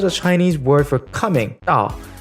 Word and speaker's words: 到: It is because the Chinese word for coming, 到, is pronounced the same as 倒, meaning upside down.